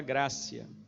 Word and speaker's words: gratia: falamos em sola gratia, o pessoal fala gratia, é porque escreve com T, mas não é gratia, né? No latim, quando tem um T e um I, que vem depois de uma sílaba tônica, então ele tem som de C. Gratia, escreve, mas fala gracia, né?